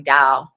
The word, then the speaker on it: Tao: it's spelled Dao sometimes or ta o this pronounce the O W Dow what is the meaning of that word what